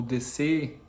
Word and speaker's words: DS: hoje em especial do Sidroen DS ou DC, né? O como se pronuncia em francês, que que a pronúncia vira deusa, né?